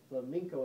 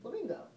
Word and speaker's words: flamenco: that you came up you told us it was flamenco and i like you pronounced flamenco and told us because whenever i heard that i thought flamingo first thing i thought